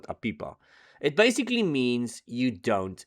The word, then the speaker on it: APIPA: And yes, I know I'm pronouncing it incorrectly, but you know, as long as you guys know what I mean. you spell it as API AA and I call it aipa.